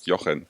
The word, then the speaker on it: Jochen: Hello, I pronounce it really bad, right? it's Jochen. Jochen.